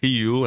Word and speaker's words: Rio: Então, sempre que a gente tem uma letra R, ao começo de palavras, a gente pronuncia mais como um ra, né? Então é o rio e rut.